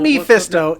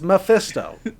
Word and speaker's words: Mephisto: what's wrong with mephisto me fisto it's not me fisto it's mephisto my fist so ready to fix in a